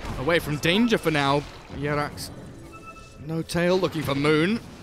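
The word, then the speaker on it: Jerax: Is it really Yerax? Does he pronounce his nickname like that? That's how I've been told by the Finnish people.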